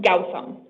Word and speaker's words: Gautam: So it's pronounced Gautam.